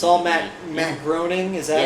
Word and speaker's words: Groening: Matt Groening. Is that how you say his name? Yeah, Matt Groening.